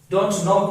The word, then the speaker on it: knock: चाहे नॉट हो, चाहे कुछ भी हो, देन के रिमेन्स साइलेंट। नॉलेज, नाइट, सरदार आ गया। तो नॉक, don't नॉक my door, don't नॉक, don't knock my door like this, like this.